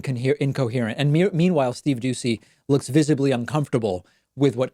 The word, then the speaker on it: Doocy: see I always have to be careful to pronounce it correctly when you see co-hosts Steve Doocy and I believe it's Ainsley Earhardt they don't